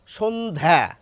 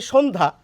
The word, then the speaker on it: সন্ধ্যা: তো এই জফলার উচ্চারণটি প্রমিত বাংলায় বা মান্যচলিত বাংলায় আসবে না। সেইজন্য যেহেতু আমরা বলি সন্ধ্যা।